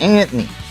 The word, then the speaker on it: Antony: Like, I'm Italian, so that's Antony. That's how you say it, Antony.